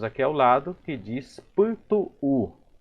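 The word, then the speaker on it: pytu'u: Agora vamos ver a outra palavra que temos aqui ao lado, que diz Putu-u. Aqui temos que pronunciar, querendo ou não, a letra U.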